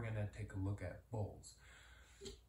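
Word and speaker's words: bols: So now we're gonna take a look at bowls. Bowls, spelled B-O-L-S, are the onomatopoetic syllables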